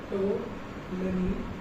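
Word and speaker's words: Ptolemy: हमारी ये याद रखना, टोलनी लिख देता हूँ मैं बड़ा, ये मेरा बंदा था टोलनी, तो पी साइलेंट है, टोलनी नोट कर लो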